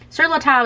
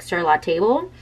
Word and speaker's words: Sur La Table: at Sur La Table Sur La Table is apparently the correct way how you say it even though when you look at it it looks like Sur La Table but I don't know